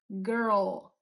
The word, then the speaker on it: girl: tem essa retroversão do R e depois logo em seguida a língua vai pra frente de novo pro L. O O, girl, girl.